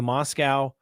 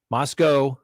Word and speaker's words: Moscow: think the Idaho the Moscow Moscow Moscow don't mispronounce it don't put the W on there Moscow Police Department I think